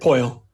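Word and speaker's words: Poile: inaugural season and david is it poorly correct did i say that poyle poyle there i knew i was going to say it wrong yeah poyle um he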